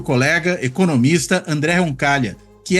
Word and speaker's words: Roncaglia: nome dele andé roncal Lembrando que roncal se escreve com gl né em italiano vai pronunciar que nem LH em português roncal né enfim mas sem